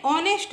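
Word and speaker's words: honest: देखो, H silent है, एच को छोड़ के पढ़ो, बाकी का क्या होगा, ऑनेस्ट। ऑनेस्ट एच साइलेंट है इसमें तो इसकी ध्वनि ऑनेस्ट की होगी, तो ये भी स्वर,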